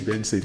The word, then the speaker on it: BNXN: So the way the name is spelled is BNXN, which means Benson.